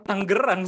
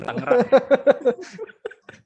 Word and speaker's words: Tangerang: By the way gue nanya dulu, Tangerang itu cara bacanya Tangerang apa Tanggerang sih sebenarnya? Soalnya lo tadi bilangnya Tangerang gitu kan, sedangkan gue taunya Tanggerang gitu. Yang bener yang mana? Sebagai lokal, sebagai lokal representatif. Orang Tangerang sendiri bacanya Tangerang. Oke ya. Gue gitu ya. Percayalah karena kita kan nyebutnya Tangerang ya. Tangerang. Yang benar Tangerang.